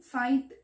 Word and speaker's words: scythe: the hillside her side scythe pronunciation side sign swishing through the